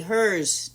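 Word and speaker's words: Herz: H-E-R-Z, hers. Oh, hers. Spell it hers.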